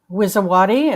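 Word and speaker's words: Wisowaty: Wizawati. It's spelled W I S O W A T Y.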